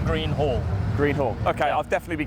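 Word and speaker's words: Hallgreen: can you just pronounce it for me it's pronounced h a double l green hall green hall okay i'll definitely be getting it wrong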